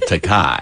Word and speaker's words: Takei: For 40 years, I've been telling him it's Takei, and he keeps insisting on pronouncing it Takei.